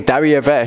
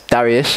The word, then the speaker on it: Darius: different it says in the 4th year King Daria - that's Darius if you want to say his name wrong it came to be that the word